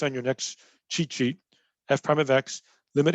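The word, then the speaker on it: f′(x): write it like this f apostrophe x we say f prime of x so f prime of x is how you say it it's a limit limit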